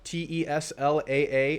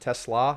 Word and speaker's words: TeSlaa: The D2 superstar in Tesla, Teslaa, and it's pronounced Tesla, not Tesla. Apparently that's how it goes.